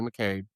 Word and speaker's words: McCabe: Big Shamrock's name and pronounce her name right. It's Katie McCabe or aka Big Shamrock. I say Mchune every single time.